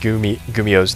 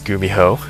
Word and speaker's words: Gumiho: I pronounced Gumiho's name as Gumiho. Apologize. So I'll be just to tell you guys, it's Gumiho, not Gumiho.